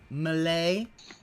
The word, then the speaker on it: melee: Well, I believe as Phil, I believe as Phil pronounced it, it's Malay, like Malady.